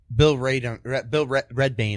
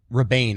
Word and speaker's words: Rebane: According to Redbane, I'm sorry. Rebane, I'm sorry. Yeah, I said Red.